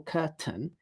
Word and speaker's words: curtain: So similarly with curtain, what I'm doing is I'm taking that t sound, which was at the beginning of the second syllable, curtain, and I'm moving it to the end of the first syllable. And then for the second syllable, I'm not doing any vowel. There's no vowel. It's just n.